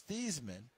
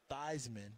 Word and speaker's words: Theismann: months because it was these men and then his SSID Notre Dame Roger valdiseri the great sports information director said we're going to change it to Theisman because it rhymes with Heisman and they were trying